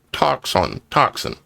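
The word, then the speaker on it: τόξον: Bow, as defined, G 5115 in the Strong's Concordance, Greek 5115 is toxon, pronounced toxin.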